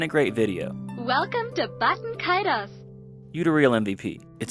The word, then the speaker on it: Baten Kaitos: I'm mispronouncing the name, I did a little research before the video, and this seems to be the most official pronunciation that we have. This can be heard in some Japanese commercials, Baten Kaitos, and even in an